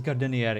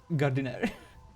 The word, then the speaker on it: Gardiner: For some reason, I see it as Gardinier instead of Gardiner.